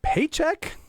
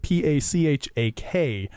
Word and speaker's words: Pachak: We have with us Paycheck from the FM Wellness Collective. Hello. Hello. Happy to be here. Paycheck, it's spelt though P-A-C-H-A-K, not Pachak. It looks like Pachak.